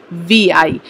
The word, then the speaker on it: Vi: Voda Idea bets on power of VI। तो in a rebranding exercise the Vodafone Idea on Monday rolled out its unified identity that is VI, that pronounced as V।